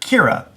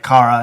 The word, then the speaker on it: Kara: the whole season, she calling her Kira, which of course isn't her name. And somebody even said something in the season about how she's the only one that mispronounces her name. But at the very end of the season, when she promotes her, she finally says her name right, Kara.